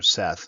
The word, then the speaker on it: Set: some chaos in life set or Seth you'll see Seth is kind of the modern understanding of the name but set is often how it's pronounced so you see that